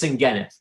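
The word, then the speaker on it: Senghenydd: It's spelled Sengheddd. I said, I haven't got a clue what that is. It was Sengheneth.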